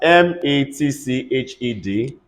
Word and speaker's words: matched: are looking for it if you see the D you know it's not D you know it's t because of the combination am I making sense